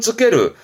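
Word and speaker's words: 就ける: 발음은 쯔케르.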